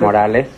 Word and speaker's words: Morales: is arthur morelli right morelle is that the way you pronounce it morales that's right where are you from